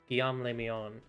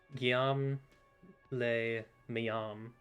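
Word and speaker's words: Guillaume Le Million: whatever happened to uh guillain le me on actually sorry you're not saying it right if it doesn't rhyme uh guillaume lay my own who with his amber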